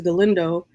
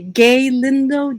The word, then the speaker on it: Galindo: And I would say, "Gay Lindo."